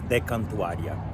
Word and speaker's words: De Cantuaria: Pronunciation is De Cantuaria.